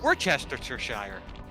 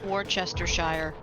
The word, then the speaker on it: Worcestershire: in trouble over this because I like to pronounce it wrong. Because I go Worcestershire.